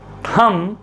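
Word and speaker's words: thumb: यहां पर बी क्या है? साइलेंट है।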